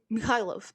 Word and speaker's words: Mikhailov: And he's like, Mikhailov, that's how you say it, Mikhailov.